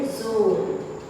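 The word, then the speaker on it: ज़ोर: जोर नहीं बनता, ये जोर।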